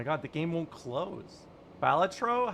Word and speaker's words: Balatro: I I'm from Finland. It's the first and last syllables. You stress.